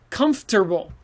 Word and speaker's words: comfortable: americans say that e comfortable but it says o-r-t who cares native speakers say tur so you can say